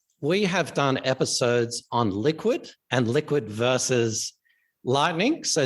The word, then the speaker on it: LQwD: So, and our Liquid is spelled LQwD, the same as our Toronto Stock Exchange ticker. And so a lot of people just call it, hey, LQwD. We call it Liquid, but we're Liquid FinTech,